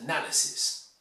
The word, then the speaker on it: analysis: You must pronounce analysis. The verb is analyze, but the noun is analysis.